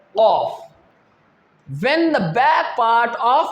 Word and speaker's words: ق: When the back part of our tongue will rise towards the upper part of our mouth, that is the soft part, then the letter off. How can we pronounce? Off. Off. When we rise our tongue, then the letter off will pronounce.